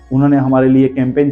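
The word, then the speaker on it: campaign: यहां पर भी जी के बाद एन है कैंपेन चलाया है यहां पर भी कैंपेन में अब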